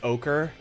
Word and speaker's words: ochre: Please stop pronouncing it as oer. It's ochre.